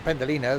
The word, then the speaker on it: Pendolino: There's a pendolino. That is that that rhymes with frappuccino.